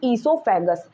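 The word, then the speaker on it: oesophagus: जैसे कि इसमें ओ साइलेंट होता है। ओ इज साइलेंट। इसको बोलते हैं हम इससोफेगस।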